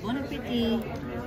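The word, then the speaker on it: bon appétit: You say to me, bon appetit. Bon appetit. No, you don't pronounce the T.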